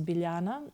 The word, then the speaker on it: Biljana: My old name was Biljana, but it's spelled Biljana, and everybody was calling me Biljana. And Biljana. It's horrible. Just J is pronounced as Y in my language.